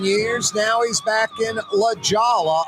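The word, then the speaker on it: La Jolla: now he's back in La Jala I think it's pronounced lajawa Corey Johnson back at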